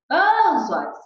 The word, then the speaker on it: anzóis: Qual é a sílaba mais forte de anzóis? A gente fala anzóis.